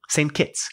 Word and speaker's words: St. Kitts: How do you pronounce it? St. Kitts? St. Kitts. Kitts, which is short for St. Christopher, but nobody says St. Christopher. They just say St. Kitts.